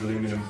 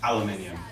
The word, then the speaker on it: aluminium: Today we're going to wrap it in butcher paper, but you can use aluminum foil. Aluminium, it's pronounced aluminium.